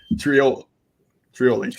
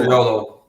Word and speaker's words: Triolo: Just how it's spelled. Trioli, right? You got it. Triolo. There we go.